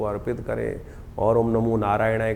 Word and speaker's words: नारायणाय: करने का प्रयास करें मंत्र का उच्चारण बिल्कुल सही होना चाहिए कई बार लोग मंत्र का जप करते करते थोड़ी सी गलती कर देते हैं नारायणाय नारायण नारायण नारायणाय नारायण नाराय नहीं है नारायणाय ओम नमो नारायणाय इस